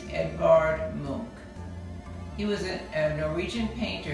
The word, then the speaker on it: Edvard Munch: like he should be edvard munch but is a norwegian artist and it's pronounced edvard monk he was a norwegian